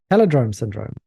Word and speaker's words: Palindrome Syndrome: And it rhymes, actually, saying it that way. Palindrome syndrome. Oh, it does, because Rome. Yeah, Rome. It's an escape room sci-fi game that'll test your deduction skills.